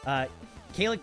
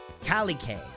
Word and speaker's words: Kalike: Kalik 2, ready. This is Kalik 3, ready. Kalik 4 here, ready to take off. You. Kalike. Kalike, got it. All right. I have learned how to say it.